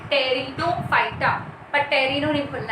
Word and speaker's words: Pteridophyta: So let's start with Pteridophyta. Our division 3. Pronunciation matters here. P silent है. Pteridophyta. पर टेरिनो नहीं बोलना है, प नहीं है, P silent है. Pteridophyta.